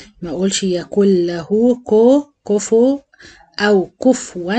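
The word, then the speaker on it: كُفُوًا: كو كفو او كفوا من الاخطاء الشائعه في سوره الاخلاص ان دايما الناس بتنطق الفاء ساكنه كف و معناها فا ساكنه وهي عليها ضمه فلازم اتم الضم ام الشفايف واقول كفو كفوا احد ا هنلاحظ هنا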